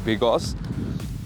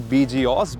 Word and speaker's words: BGauss: and how to pronounce ouncer so it is pronounced as Bigos previously I used to think that it is pronounced like bgos but Bigos it is and it is another brand Under